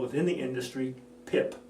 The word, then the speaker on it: PIP: called within the industry pip pip rhymes with SIP rhymes with tip and that is a